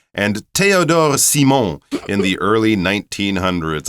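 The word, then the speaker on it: Théodore: also have this word Theodore that's how we would say it but the French pronunciation is a little different and since he's from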